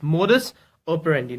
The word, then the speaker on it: modus operandi: look at its pronunciation, then it is pronounced as it's modus and operandi. Okay, it's modus operandi.